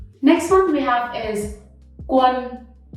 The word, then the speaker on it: Quân: Next one we have is Quân. A with hat in Vietnamese is not A. It's not Quan, it's Quân. Okay? Quân.